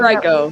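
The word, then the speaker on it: Henrico: Is it Henriiko or Henrio? I don't know how you say it. Henriiko. Henriiko. I'm uh I'm from that far from there.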